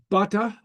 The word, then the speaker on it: bata: So, and it changes the meaning. A couple examples. Bata would be stick.